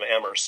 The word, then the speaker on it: Amherst: perhaps amherst is different I've been practicing my pronunciation a murse to there's no age